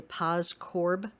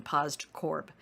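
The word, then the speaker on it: POSDCORB: to know the acronym pos corb and so we usually pronounce it without the d in there we usually say paz corb but the d is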